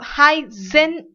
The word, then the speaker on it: heißen: It's pronounced as very sharp S, and this is known as Z. So heißen Sie.